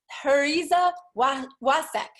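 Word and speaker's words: Pariza Wacek: Michele P.W, pronounced Heriza Wasek.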